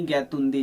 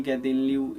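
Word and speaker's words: Gaidinliu: इसके अलावा एक मणिपुर की बहुत फेमस लेडी का नाम आप लोग को पता होगा, रानी गैतुंदी जी। ये गैदिनलिऊ, रानी गैदिनलिऊ, ये थोड़ा सा डिफिकल्ट प्रोनाउंसिएशन।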